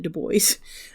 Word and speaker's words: Du Bois: He pronounces it Du Bois. Americans pronounce it Du Bois, I should say.